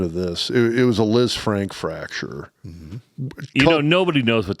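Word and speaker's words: Lisfranc: The technical pronunciation, it's a leaf franc fracture coupled with a distal fibular fracture as well.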